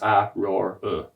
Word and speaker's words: Aurora: long black hair named Aurora. Pronounced A-roar.